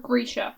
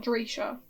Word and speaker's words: Grisha: not just greeter greg grisha not dresher you know but i'm